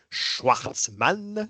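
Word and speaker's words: Shwartzman: une écurie recrue cette année, avec Schwartzmann, je le prononce bien Mhm.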